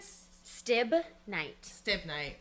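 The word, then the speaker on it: stibnite: Stibn night.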